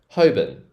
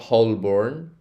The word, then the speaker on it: Holborn: my words right now ho BN so it's like a BN like a quick BN hoben hoben station it's not whole born so I think the Americans will pronounce this born like R like the Bor aorn it's not hbor it's hoben hoben hobin okay let's kind of